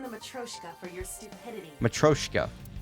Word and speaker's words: Matryoshka: Matryoshka. That's how you say it.